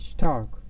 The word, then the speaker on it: stark: you can read it you will read it as star but it's not star it's stark it's stark stark and this is not start the sound of s is not s but you can say it's more like s h as you can see